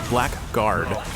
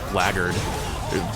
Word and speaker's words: blackguard: It's one of those words that like is spelt but isn't pronounced the way it's spelled, or at least most people don't. Like, it's Blackguard, but it's pronounced Blackguard by a lot of people, or so it sounds at least, and it never made sense to me in that regard.